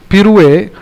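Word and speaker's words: pirouette: So Hindilo Piro, you pronounce it as Pirue, but then మనం ఫిరోలా కనిపిస్తుంది కాబట్టి ఫిర్నా, కైకు ఫిర్రే బై, గుమ్రే ఫిర్రే.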